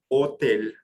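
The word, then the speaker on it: hôtel: from England from English the second o has that roof aan circumflex it's pronounced like otel Hotel the meaning of the way that you say hotel in French is by ignoring the sound of H and just going straight to the word o and the O is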